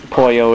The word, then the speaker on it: pollo: all the time oil well then again it is spelled differently spanish pollo is p o double l o kirby spoil